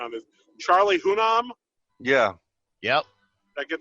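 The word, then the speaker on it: Hunnam: and I might need some help with the pronunciation on this Charlie hunam yeah yep did I get that right yeah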